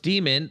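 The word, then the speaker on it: daemon: Damon yes it's a it is pronounced demon it is spelled Damon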